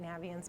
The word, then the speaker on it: Naviance: It's supposed to be like navigate, Naviance, but Naviance is what it's always been to me, and that's what it will continue to be.